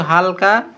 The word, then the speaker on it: ح: ঠিক আছে শুধু গলার ভেতর থেকে একটু হালকা প্রথমে হা উচারণ করার আগে বাতাস বের করবো আমরা হালকা হালকা চাপ দিয়ে গলা থেকে বাতাস বার করব। ঠিক আছে? এরপর আমরা হা উচ্চারণ করবো।